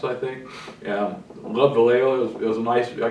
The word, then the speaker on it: Vallejo: looked at my ordering one I wonder where Valley Joe is I had no idea I never heard of that until I found out it's pronounced Vallejo being a Midwest country boy not knowing Spanish